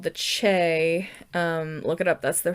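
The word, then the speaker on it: Chee: But there's this android race called the Che. Look it up. That's the correct pronunciation if anyone's going to correct me.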